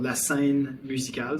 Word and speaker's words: La Scène Musicale: And then the other building that I would say is a crazy reference is called, I'll pronounce it in French, it's called La Scène Musicale.